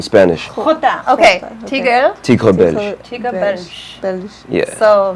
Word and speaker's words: Tigre Belge: If you guys have been checking out my posts, his IG name is Tigre Belge. Oh my God, I was gonna ask. How do you pronounce it?